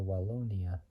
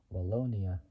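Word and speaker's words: Wallonia: up areas in the wona soorry in the wona it's spelled w a l l o n i a region 120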